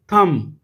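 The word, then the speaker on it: thumb: ठीक है परंतु उसने इसमें बोलना नहीं है यह साइलेंट है हम क्या करेंगे इसे थम मेरे साथ अर्पित करें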